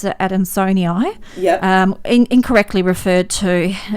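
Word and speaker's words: adansonii: the UK it's the monster and I'm gonna pronounce it ad in Sony I yeah incorrectly referred to and there was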